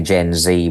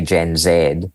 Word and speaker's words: Gen Z: So if you take the characteristics of what the Americans say Gen Z, we would say Gen Zed.